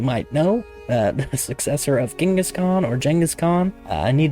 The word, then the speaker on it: Genghis Khan: Also, Genghis Khan, pronounced that way because I was told it is closer to how it would have pronounced back then. It's been anglicized into a normal pronunciation.